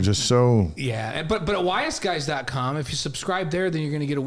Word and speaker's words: ysguys: And they said W-I-S-E. Yeah, we're not smart. It's the letter Y.